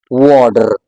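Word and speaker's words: water: द T here is अ टी बट it creates a soft D sound in American English. American English में हम इसको बोलेंगे वाटर, वाटर, वाटर।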